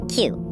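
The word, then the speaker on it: queue: Like Q. Q U E U E. That's five letters just to say Q.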